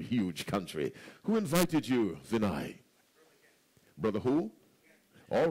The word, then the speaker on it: Vinay: Vinay. Who? Vinay. Spell that for us.